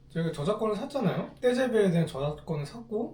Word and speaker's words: TGV: TGV라고 네. 그 프랑스 발음은 떼잡인데 네. 아. 우리가 고속열차 처음 만들었고 KTX는 우리 거 모티브에서 만든 거잖아. 프랑스 친구들이 참 너무한 게 제가 저작권을 샀잖아요. 떼제베에 대한 저작권을 샀고 잘